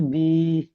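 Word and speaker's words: وِ: ওয়াও জের বি, হা জের হি, হামজা জের ই, ইয়া জের ই। হুম। দেখুন, এখানে ওয়াউজের ভি হয়, আসল উচ্চারণ ওয়াউজের ভি।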